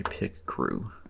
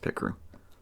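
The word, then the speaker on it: Picrew: I did not draw this rig, or, this little animatic here was made using a pick crew. I believe it's called I believe it's pronounced pick crew.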